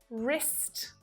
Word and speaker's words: wrist: So the letter W is always silent when it's at the start of the word and in front of the letter R, like in right, wrote, wrist, wrong.